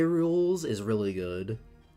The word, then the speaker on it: K. Rool: K Rules is really good. Rule? Yeah, that's how you say it.